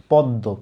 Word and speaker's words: পদ্ম: পদ্ম, পদ্ম উচ্চারণ করলে দেখো এই দটাকে আগে ছিল না, এই আগের দটা পরের মটাকে খেয়ে ফেলছে, খেয়ে নিজের মতো করে ফেলছে, নিজের সমান করে ফেলছে, পদ্ম দুইটা দ বানাই দিছে।